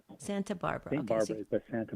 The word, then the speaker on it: Santa Barbara: How do you actually pronounce your city? Santa Barbara. Santa Barbara.